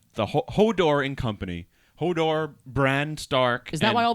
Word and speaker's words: Bran: no no there's actually Bron bran it's important how you pronounce it oh really there's a bron and there's a bran oh my God help